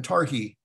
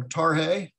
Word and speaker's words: Tarhe: that long ago that when we would talk about tarhe guess what we called him we called him tarki so even something as simple as correctly pronouncing his name is it's a big